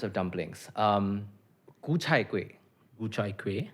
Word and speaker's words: Gu Chai Kueh: Gu chai kueh. Gu chai kueh is actually pretty good pronunciation.